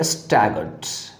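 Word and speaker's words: staggered: Next है आपका स्टैगर्ड, double G है स्टैगर्ड में, तो इस G के ऊपर अधिक स्ट्रेस लगेगा आपका, स्टैगर्ड, ठीक है।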